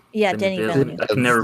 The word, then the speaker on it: Denis Villeneuve: it, like Dune definitely, and is it that's Dennis Villeneuve. Denis Villeneuve. Yeah, Denis Villeneuve. I can never pronounce it.